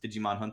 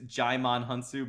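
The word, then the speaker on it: Djimon Hounsou: be better for everyone she offers a $10,000,000 digimon hunt sue is his black friend I guess his name is Digimon hunt his movie is I'm sorry his name is Jai Mon hounsou but his name is essentially spelled like did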